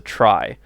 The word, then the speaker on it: trie: in a data structure referred to as a try um spelled like t-r-y t-r-i-e-s but you know you just say it like the word try like i'm going to